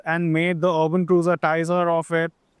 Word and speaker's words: Taisor: Well, you get something like this, the Toyota Urban Cruiser Taisor or Teaser or however you want to pronounce it. However, over the course of this review, I'll be referring to this as the Taisor.